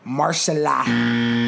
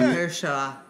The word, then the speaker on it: Mahershala: I can never pronounce this nigga's name right. It's Marshala. It was at this moment that he knew. He fucked up. Marshala Ali. What the fuck was that? Mahershala.